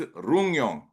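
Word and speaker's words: Ryugyong: This is a Ryong. It is pronounced Ryong Hotel in North Korea is the world's tallest unoccupied building with 105 empty stories.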